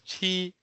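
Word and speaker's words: 七: Pa is known as 8 in Chinese, and Jiu is known as 9 in Chinese, and 7 is usually pronounced as Qi in Chinese.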